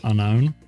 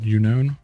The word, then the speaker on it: Unown: Mikey, there is a Pokemon language using the Pokemon unknown or unown or unknown, depending on how you want to pronounce it, but the actual text is in game I don't think has a translation.